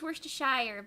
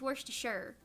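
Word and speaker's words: Worcestershire: is wor to sure I used to think it was wor to Shire but it's worse to sure somebody somebody corrected me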